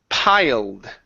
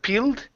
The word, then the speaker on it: piled: Next one here is piled. Instead of peeled, it's a pie. Piled.